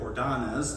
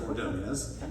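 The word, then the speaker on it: Ordóñez: baseball players such as maglio Ordonez instead of ordonias or by Rodriguez as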